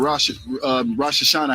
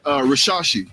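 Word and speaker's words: Risacher: You got your young coin, Jalen Johnson, and Rosh Hashanah, however you say his name, excuse me, I'm sorry, Rashashi, Zachary Rashashi.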